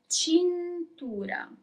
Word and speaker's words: cintura: Belt is cintura. You pronounce all the letters.